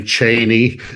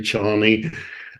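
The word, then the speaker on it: Chani: it was but Chie there's about three different versions you know some people say Cheney some people say Chie and it's like after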